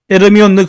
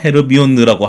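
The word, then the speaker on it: Hermione: 다음 인물로 넘어가 보도록 하죠 예 다음 인문은 헤르미온느 그랜저 있니다 헤르미온느 진 그랜저 아 그 이게 발음이 아마 한국만 그럴 거예요 예 맞아요 헤르미온느라고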